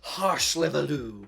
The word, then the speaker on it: Hárslevelű: Just a little fun fact in Hungary, if you see an S by itself phonetically, it's a sh sound, hence Hárslevelű.